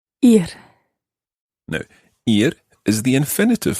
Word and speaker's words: ir: it's an irregular verb that verb is spelled I are and it means to go yeah here here good pronunciation ear no ear is the